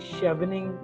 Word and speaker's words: Chevening: If you're going for public policy or even masters in UK, I think Chevening, that's how we pronounce, and SZHAR Shawarman, I think SCHWAR Shawarman Scholars is also there.